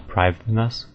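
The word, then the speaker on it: Prifddinas: wiki um but either way I fa it pronouncing it correctly it's uh priv us which doesn't make sense to me I I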